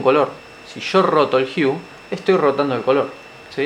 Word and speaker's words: hue: Ahora, si observamos lo siguiente, acá tengo la opción de tocar lo que se llama Hue, ¿sí? El Hue es básicamente esto.